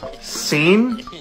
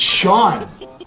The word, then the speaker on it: Sean: So this word is see which means this word is seat which means this word is seen. No it's Sean.